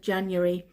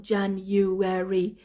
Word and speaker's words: January: on the 7th of January January January not January January three syllables yeah January January so